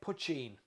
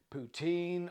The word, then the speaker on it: poitín: Break it into its two syllables. The first is puch, like much, and the second is een, like bean. When you put them together, you get poitín.